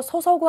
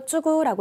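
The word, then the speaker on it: 注ぐ: 오사케요 소소구 하면은 술을 어떤 통 같은데 용기에다가 붓는 거고요. 오사케요 쭈구라고 읽으시면은 술을 따르다, 조그마한 잔에다가 술을 따르다라고 할 때는 오사케요 쭈구라고 읽으셔야 된다라는 것도 함께 외워두셔야 되겠죠.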